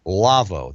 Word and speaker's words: Lawo: And that's one of the reasons I'm excited to introduce you to our sponsor, Lavo. Now, that's spelled L-A-W-O.